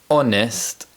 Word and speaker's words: honest: In addition to this, some words of French origin have a silent letter H at the beginning, such as hour, honest, and honor.